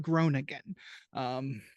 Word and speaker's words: Groningen: I'll pronounce it. The Dutch have the weird G's, but Groningen.